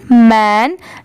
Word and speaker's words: men: ठीक है, इसकी प्रोनाउंसिएशन है want, ALL ऑल, THE द, YOUNG young, MEN मैन। जैसे अगर कहीं पर MAN रहा तो उसे भी मैन ही पढ़ेंगे, आप कंफ्यूज मत होइएगा, MEN भी मैन होता है।